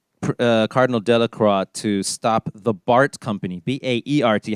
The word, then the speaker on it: Baert: Baert as well, but in the original, they pronounced it Bart, and man, that E is throwing me off.